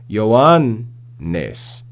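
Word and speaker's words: Ἰωάννης: Notice there are 2 news together here. So the first nu ends the previous syllable, and the second nu begins the following syllable. So make sure you pause in between them and articulate them both. Listen to how I do it.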